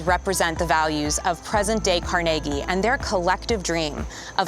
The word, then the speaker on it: Carnegie: Is it Carnegie or is it CargI? Are you ask Are you asking if you live in Carnegie? Uh-huh. Well, no, just Well, yeah. How do you pronounce it? It's CargI.